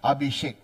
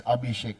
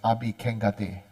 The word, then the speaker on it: Abhisheka: Abhishekata, Abhishek. The Sanskrit is Abhishek, but somehow in Tibetan they pronounce as Abhikengate. Okay, so actual word is Abhishek.